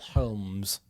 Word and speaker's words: Holmes: Spelled the same as Sherlock Holmes. With the L. Holmes.